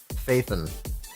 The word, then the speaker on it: Phaethon: You pronounce it like Phaethon. That makes so much sense because I always thought there was an E after the TH.